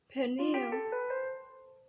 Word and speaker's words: Peniel: Peniel. The stress in Peniel is on the middle Face of God, because I saw God's face through faith, and yet my life was spread.